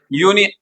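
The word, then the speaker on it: union: कौन सा वर्ड है यूनियन का फर्स्ट लेटर कौन सा है वोवेल है लेकिन इसका वही प्रोनाउंसिएशन होगा यूनियन और यूनियन का मतलब है य प्लस ओ तो य यानी कंसोनेंट आर्टिकल अ कौन सा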